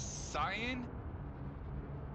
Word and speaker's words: cyan: There's cyan, and there's 2 shades of blue, and that's basically it. Cyan. Yeah. The accent is on the second syllable.